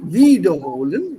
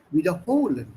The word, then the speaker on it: wiederholen: Nicht wiederholen, sondern wiederholen. So, die Betonung ist sehr, sehr wichtig hier.